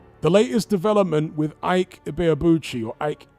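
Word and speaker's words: Ibeabuchi: The latest development with Ike Iabuchi or Ike Ibbyuchi. That's the way it's correctly pronounced apparently.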